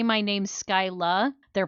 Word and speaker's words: Skyla: yeah, if they say my name's Skyla, they're pronouncing it wrong or wrong in their heads, and if they say Skyler, they're saying it right in their heads.